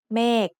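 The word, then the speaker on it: เมฆ: Meg is said with a falling tone because it has a low-class consonant with a dead syllable ending and a long vowel.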